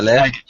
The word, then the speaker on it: leg: The leg. Leg. Again? Oh, telephone call. I think he got interrupted. Sorry. The again, no? The leg. Leg. You got to do a hard leg. G. A hard G.